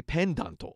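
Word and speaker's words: ペンダント: So if you were to try to say that in katakana, you'd go, where's my pendanto.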